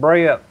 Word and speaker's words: breadth: This is market breadth. It won't move until the market opens. And market breadth, and that's spelled B-R-E-A-D-T-H, breadth, as in width, breadth, width. That is the NYSE advancers versus decliners.